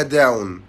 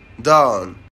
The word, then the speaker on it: dawn: كلمه فجر هي الكلمه اللي فوق دي، والكلمه دي ناس كتير جدا بتنطقها غلط، بيقولوا عليها داون، لكن الكلمه دي اسمها dawn.